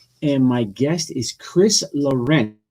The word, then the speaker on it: Laurent: Kiss of Death, and my guest is Chris Laurent, right? That's right. Well, Am I saying it's that it's correctly? it's a Chris little difficult to pronounce with the native tongue. It's Laurent.